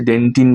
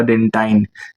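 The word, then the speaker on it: dentine: পুরো এই অংশটা হচ্ছে ডেন্টিন বা ডেন্টাইন যেরকম ইচ্ছা উচ্চারণ করো কোন সমস্যা নেই এবারে এই ডেন্টাইনের উপর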